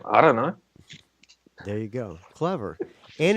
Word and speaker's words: IDunnö: How do you pronounce the name? Just IDunnö. Yeah, what's your band name? I don't know.